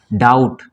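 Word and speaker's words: doubt: नहीं डेट ठीक है इसको डाउट बी साइलेंट हो जाएगा डाउट क्या पढ़ेंगे इसको डाउट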